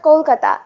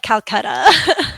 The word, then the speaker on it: Kolkata: Have you ever heard of Kolkata? It is a big city. Kolkata. Yes, I think so. I think we probably mispronounce it when we talk about it here. Yeah. I think we call it Calcutta.